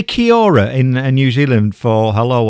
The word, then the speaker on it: kia ora: Well, that is correct, and it's kia ora is how it's pronounced.